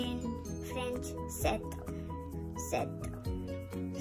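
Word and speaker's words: sept: Seven we say in French set.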